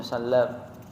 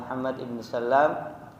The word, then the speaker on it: Muhammad ibn Salam: Al-Imam Al-Bukhari rahimahullahu taala meriwayatkan hadis dari gurunya Muhammad Ibnu Sallam. Ada riwayat yang mengatakan Muhammad, dia dibacanya dengan Muhammad ibn Salam. Tapi yang lebih kuat dibacanya adalah Muhammad ibn Salam al-Bikandi rahmatullahi ta'ala alaihi, salah